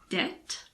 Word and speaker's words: debt: which the B is silent before the letter T these words are debt doubt and subtle this also applies to